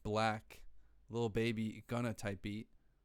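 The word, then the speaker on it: 6lack: A 6 lack, pronounced black, Lil Baby Gunna type beat.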